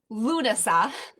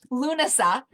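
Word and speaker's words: Lughnasadh: This next one is it's Lunasa. That's how you say that word. If you're looking in the comments, you're like, what in the actual is that? Lunasa.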